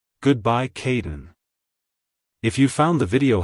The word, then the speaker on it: Kadin: sound at the end keep the emphasis on the first syllable like hello Kaden goodbye Caden if you found the